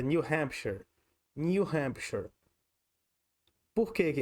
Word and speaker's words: New Hampshire: Nesse caso, a pronúncia desse nome desse estado é New Hampshire. New Hampshire.